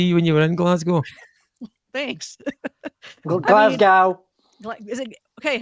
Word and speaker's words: Glasgow: You came to Glasgow.